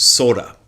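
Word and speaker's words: 空: But here is Nishijima Roshi's introduction to Kuge. Ku means the sky or space. It also means emptiness or the void. It's often translated the same way. Ku. Sometimes that character is pronounced Sora. That first character there in the compound.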